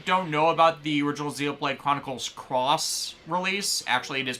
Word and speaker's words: Xenoblade Chronicles X: Like, oh, so for the people who don't know about the original Xenoblade Chronicles Cross release, actually it is pronounced Cross Net X, we only learned this recently, the special edition version stuff kind of screwed people over.